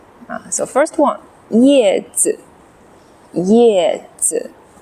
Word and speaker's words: 叶子: alright back to our learning some common words with 叶 so first one yè zi 叶子子 is of neutral tone or no tone light and quick zi 子 yè zi 叶子